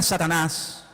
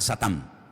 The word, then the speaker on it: Satán: Y luego aparece en el versículo 10 la palabra la palabra La palabra Satanás que significa adversario es un nombre que viene del hebreo. En hebreo no se dice Satanás, se dice Satán y significa adversario.